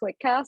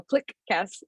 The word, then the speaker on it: Cliquecast: When I'm talking about the podcast, I call it Cliquecast, but when I read our handle, I go Cliquecast. Like I separate it weirdly and I overpronounce the Q.